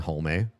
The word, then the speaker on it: Hullme: stuff down, my name is Hullme. You pronounce both E.